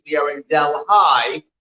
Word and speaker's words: Delhi: today delaware county in delhi not delhi we are in delhi that's how you pronounce it here in new york state that's where we are